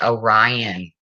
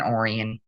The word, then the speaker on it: Orion: um you know oh it's pronounced Orion that makes more sense K junkie it sounds so much better than Oran so kudo's out to